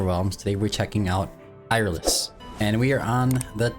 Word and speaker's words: Eirlys: Iris. Um, best that I could find. That's how you pronounce her name.